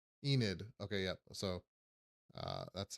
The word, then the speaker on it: Enid: The correct pronunciation is Enid. Enid.